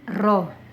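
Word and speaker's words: ρ: Jangan lupa membacanya ini rho hambatan jenis. Kalau ini R hambatan.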